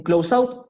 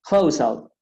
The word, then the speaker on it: close out: Eh, la segunda no es un close out, sino close out.